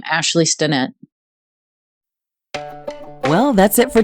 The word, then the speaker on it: Ashlea: my name, which is Ashlea Stinnett. And you spell that a little differently. It's Ashlea for Ashley.